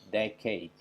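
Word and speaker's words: decade: ini diucapkan sebagai tiket-tiket padahal kata ini harusnya diucapkan sebagai jacket dekey kita coba lagi dekey jaket ini bukan dikei tapi dek-e dengan penekanan pada suku kata yang pertama dekey Oke itu yang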